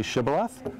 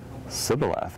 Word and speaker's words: shibboleth: Can you say shibboleth? And they would say Sibboleth, because they couldn't pronounce the SH, and then the Ephraimites would kill them.